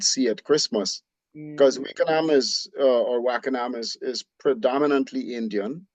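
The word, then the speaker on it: Wakenaam: Because I mean, you go to Wakenham or Wackenham, which is how you say it properly. Really? Yeah, yeah, Wackenham is Dutch. Wakenham Oh, is an English. We've anglicized the name when we say Wakenham.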